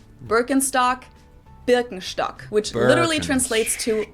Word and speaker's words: Birkenstock: the world nowadays, and it's natural that people pronounce it with their native accent. So English speakers usually say Birkenstock. In German we say Birkenstock. Birkenstock.